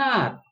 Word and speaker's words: hour: Next one, it goes 60 miles an hour, or it goes 20 miles an hour, like that. So here an hour, here H is silent, sound is starting with vowel sound.